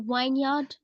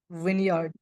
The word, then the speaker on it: vineyard: Uh, so wineard. So, maybe wineard. Vineyard. It's vineyard. Not that it's Wyard. Yeah, it's not wine. It's Wyard.